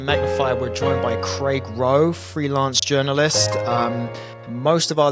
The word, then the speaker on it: Rowe: And just for others' edification, the last name's actually pronounced Rowe, but you wouldn't know I that.